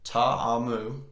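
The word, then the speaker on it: Ta'amu: Ole Miss Jordan will say his name correctly taha mu Jordan Tom move 23 excuse me 22 33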